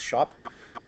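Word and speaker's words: scop: called a shop um it's spelled SC o p but it's actually pronounced shop uh it's likely the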